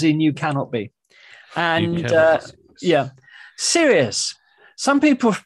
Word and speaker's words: Sirius: S is for Sirius, as in you cannot be. And Sirius. Some people pronounce it Sirius.